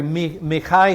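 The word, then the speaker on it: מיכה: pick up the story mikhai who in English we call his name Micah the Hebrew pronunciation of his name is so when I say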